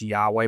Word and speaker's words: Yahweh: His name El Shaddai was for the patriarchs, but Yahweh, which we pronounce Yahweh, but it's actually spelled YHWH, which is pronounced more like kind of weird.